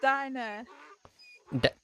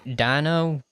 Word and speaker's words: Dinah: Dinah, not diner. How do you spell that? Dinah. Oh, it's one of them silent H's.